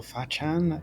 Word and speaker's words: Fachan: So, there's one called uh Faken, I think it's called, or Fachan is how you pronounce it.